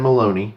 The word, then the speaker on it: Maloney: the name of Dan Maloney yes spelled like baloney OMA or sounds like baloney yeah that spelled by